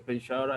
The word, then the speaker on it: Penshara: Can you make any sentence in Malay with the Penshara? Anybody? Penshara, lecturer. Penshara. Sha, not Sia. Sha, Penshara. Yeah, Penshara, Sha. In Malay, SY A is Sha. S-Y-A. They pronounce Sha. They don't use S-H-A.